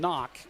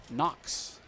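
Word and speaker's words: Knoch: I've been calling him Knock. It's K N O C H. I did the same thing last year with Landon and I was told it's pronounced Knox.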